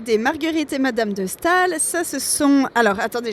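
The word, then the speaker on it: Staël: 1791 avec madame de Stal qui sec qui s'écrit Stael et qui se prononce Stal.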